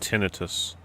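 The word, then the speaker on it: tinnitus: I'm pretty sure it's pronounced tonitis. Anybody got a dictionary handy that can look it up? Oh, it's the British way of saying it.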